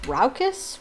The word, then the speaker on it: raucous: out um i'm gonna see uh how to pronounce roushes raucous ruckus is that ruckus ruckus uh one second